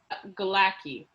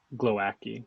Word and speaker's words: Glowacki: we've done that's really Who is Galaki? Glowacki. Glowacki. How do you spell that? Glow and then Aki. Glow with a W? Yeah. Is it Oh, I really? didn't know the W.